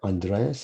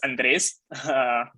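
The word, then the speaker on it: Andrés: try to pronounce uh andreas is your your name so maybe you can say introduce yourself quickly hey yeah thank you james uh yeah it's andres yeah pretty pretty straightforward for spanish speakers uh so i'm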